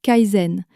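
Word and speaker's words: 才人: ou rang de concubine qui en chinois se prononce Kaaizen.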